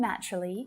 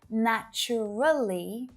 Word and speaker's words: naturally: And it's the same with naturally. Most of my students will pronounce naturally with 4 syllables, right? But when a native speaker says this word out loud, usually you'll only hear 3 syllables. Naturally, naturally, naturally.